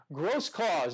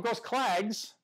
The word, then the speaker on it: Grosklags: interview I mentioned Chad gross cause don't call him gross clag's there's a G in there but it is silent gross claws down in